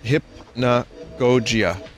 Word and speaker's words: hypnagogia: game's title hypnagogia and you pronounce it hip na gojia i clapped oh this